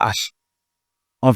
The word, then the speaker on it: hen: Ça, c'est hen. C'est pas N. Non. Hen.